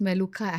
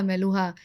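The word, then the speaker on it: Meluhha: एंड how this word appeared जो मेलुहा मेलूहा अमीष त्रिपाठी जी का जो नवेल आया ना मेलूहा उन्होंने फेमस कर दिया actually it is pronounced S बेलुखा मेलुखा double ख है उसमें सो इन वन ऑफ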